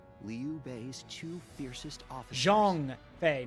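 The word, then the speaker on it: Zhang Fei: B's Two fiercest officers Jong Fe not Jang Fe Jeong Fe that's how you say it Jong Fe then our aim should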